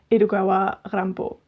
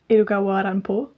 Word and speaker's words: Edogawa Rampo: japanese crime fiction author edogawa rambo and another fun tidbit is that this pen name irukawa rampo is actually the name of famous horror author edgar allan poe when pronounced with a japanese accent and that comes from